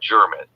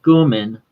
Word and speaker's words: Gurman: Because by the way, is it Gurman or German? It's pronounced Gurman. Gurman.